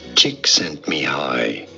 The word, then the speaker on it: Csikszentmihalyi: How do you say it? Mihaly Csikszentmihalyi. Mihaly Csikszentmihalyi. Csikszentmihalyi. Cheek sent me high.